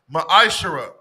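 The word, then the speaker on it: מעשר: The book of Malachi, chapter 3, verses 8 through 10, means 10th in the Hebrew. It's pronounced ma'ashara.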